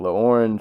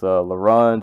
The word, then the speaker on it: L'Orange: started this review to make sure I was pronouncing his name right, and I was definitely not saying Larange. I was definitely saying LaOrange or some other variation of that, but it's Larange and Solemn Brigham with Marlowe.